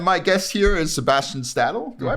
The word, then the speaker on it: Stadil: it is and my guest here is Sebastian stadle do I pronounce that right though yeah cool um and